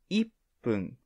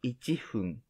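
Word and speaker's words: 一分: number one is ichi but one minute is iphone not ichifun as you can see how to pronounce one is different and how to say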